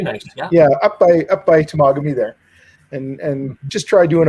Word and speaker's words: Temagami: Yeah, I once drove with somebody first time going up north, and we saw the sign for Temagami, and he thought it was Tamagami.